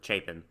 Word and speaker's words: Chapin: was gonna say um i had to go look up how to pronounce his name um because i thought it was harry chapman and chapin so i apologize i